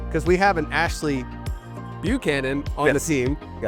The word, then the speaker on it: Buchanan: And first off, let's start with how the heck do you pronounce Canon? Well, some people say just that aren't around from the area say Buchanan, but everybody that I that is from that area, we all call it Buchanan.